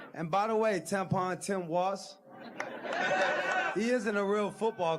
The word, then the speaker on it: Tim Walz: Number three, and by the way, it's Tim Walz. It's not Tim Walsh, you frickin' moron.